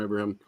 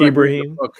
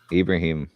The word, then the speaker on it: Ibrahim: or five belts from abraham is that pronounced right to see once again i've only rebranded i've only read it i've never heard it so it's ibrahim ibrahim yeah there it is